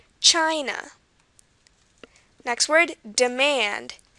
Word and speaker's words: China: country we have here China China again it's at the beginning China next word demand not